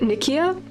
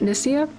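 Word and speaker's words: Nicaea: Is it Is it with a hard Is it Nikkia? Is it Nissia? No, it's N it's Nissia, right?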